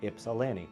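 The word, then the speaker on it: Ypsilanti: And we get a kick out of teaching non-M Michigan friends how to properly pronounce places like Ipsalani, which is Ipsalani or Sue Staint Marie.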